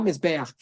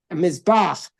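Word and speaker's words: מזבח: And mizbach Hashem Elokecha, not mizbeach, mizbach, the altar of Hashem your God.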